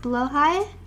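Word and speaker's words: Blåhaj: river sharks that's scary it's pronounced blowhai below high low high blood interesting I never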